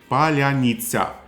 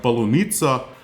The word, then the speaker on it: Palyanitsa: They'll know how to say this word correctly, whereas a Russian troop would say it more like polunitsa, which is strawberry.